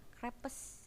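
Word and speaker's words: crêpes: Nah, crepes itu apa sih dibacanya? Nah, beli yang makanan yang tipis-tipis itu yang pakai coklat. Nah, dibacanya crepes. Ya, crepes. Jadi bukan crepes atau crepe. Grapes, jadi ada ei-nya gitu ya.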